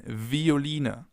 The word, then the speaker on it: Violine: It can either be pronounced like the F, as in Veilchen, Veilchen, or like a V, as in Violine, Violine, violin.